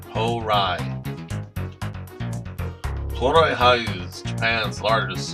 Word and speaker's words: Hourai: Hourai is pronounced a bit like Hourai.